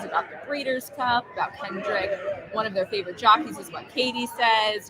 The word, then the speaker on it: Kendrick: But look at all of our viewers right now having chit-chats amongst themselves about the Breeders' Cup, about Kendrick.